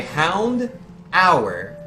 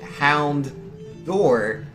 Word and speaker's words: Houndour: If by Hound Hour, when you typed it H-O-U-N-D, line, and then hour as in like on a clock, which is the incorrect way to say it. If by spelling it like that, you somehow meant Houndour, D-O-O-R, then yes.